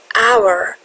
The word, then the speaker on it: hour: Hour یعنی ساعت. ما اچشو اصلا تلفظ نمی کنیم.